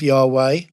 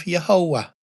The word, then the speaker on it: Yahweh: So we could have Yahweh or we could have Yahovah or Yhovah. Either way, those were the only ways that that name could have been pronounced.